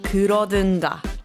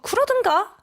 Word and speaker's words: 그러든가: One important tip, the correct pronunciation is 든가, not 던가. 네, 오늘의 한국어 그러든가?